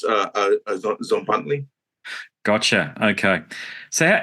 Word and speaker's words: Tzompantli: the name here but Z an Z anley is that correct yes it's close enough yeah it's zley gotcha okay so how